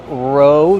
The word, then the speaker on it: row: You row the boat. Row. Use a long O like go and no.